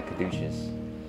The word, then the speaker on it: caduceus: A caduceus? I don't know what you call it. I believe you said it right the first time. Okay, a caduceus.